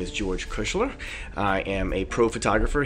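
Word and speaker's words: Kuchler: new to the channel my name is george kushler i am a pro photographer here in new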